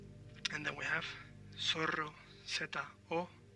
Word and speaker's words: zorro: And then we have zorro, Z-O-R-R-O. Now remember that the Z or the Z in Spain is pronounced th, so a Spanish person will say zorro, Z-O-R-R-O.